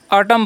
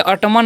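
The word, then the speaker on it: autumn: ऑटम पढ़ते हैं, क्या पढ़ते हैं? इसे हम ऑटम पढ़ते हैं, ठीक है, यानी कि ऑटमन नहीं पढ़ना है, एन यहाँ पर साइलेंट होता है, ओके।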